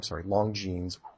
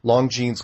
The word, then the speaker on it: Longines: Watch the Longines, pronounced that wrong, Longines chronoscope from 1954, where he goes on national